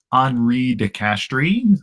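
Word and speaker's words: Henri de Castries: be Belgian or something but his name is HRI de castri uh which uh for all you English speakers is spelled like Henry de Castries and so you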